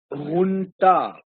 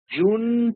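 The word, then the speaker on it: junta: actually is pronounced hun hun okay because it is a Spanish word and in Spanish J is H right so the pronunciation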